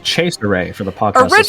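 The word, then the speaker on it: Cesare: As you can I just realized it's on the pronounced chase array for the podcast. Originally it was pronounced chase array cuz it was based off a joke character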